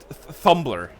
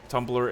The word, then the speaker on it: Tumblr: Thumbr. What? Why did I pronounce it like that? Thumbr. The image I have of Tumblr is basically like young teenage girls writing fanfics.